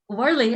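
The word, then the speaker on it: 五二零: It's like for those of you who don't speak Chinese, Warling is 520, and it sounds like 我爱你, which is I love you.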